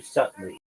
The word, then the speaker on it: subtly: I know the B is silent.